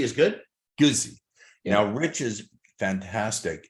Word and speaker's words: Guzzi: Do you pronounce it Guzzi or Guzzi? Yeah, Guzzi is good. Guzzi.